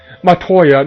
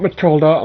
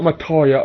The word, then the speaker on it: Matoya: Matoya, not Matilda, Matoya.